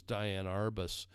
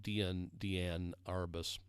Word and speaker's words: Diane Arbus: The last one I want you to look at here, this is Diane Arbus. Some people pronounce it Deanne Arbus.